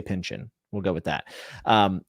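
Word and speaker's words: Pynchon: never know how to say his name Thomas Pinchin we'll say Pinchin we'll go with that um I was really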